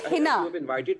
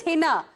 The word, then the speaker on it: Heena: No no my name is Hina. My name is Hina.